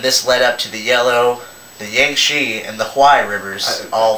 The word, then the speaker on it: Yangtze: It's Yangtze. See, I don't pay you for your pronunciation either.